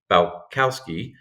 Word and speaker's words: Balcauski: come I am super excited to have balowski did I say that right you did